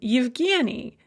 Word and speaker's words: Evgeni: these vowel sounds so for example the name evgeni uh it starts with a ya or my name